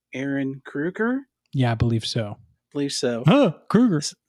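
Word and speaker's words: Ehren Kruger: Well, I was watching another interview, and the writer of this movie, I believe it's pronounced Aaron Kruger.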